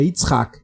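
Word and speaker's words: יצחק: Exemplo da versão latina disso é interpretar Yitzhak, que tem gente que acha difícil falar Yitzhak, e falar Isaac, né, que é a versão latina de Yitzhak. Mas o nome da pessoa é Yitzhak e não Isaac.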